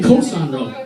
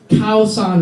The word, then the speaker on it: Khao San Road: So, I went to Khao San Road, and many people mispronounce it. They say Koh San Road. Koh San Road. Thank you very much, Leonardo DiCaprio in the fucking beach. Don't listen to anything that guy says. It's Khao San Road.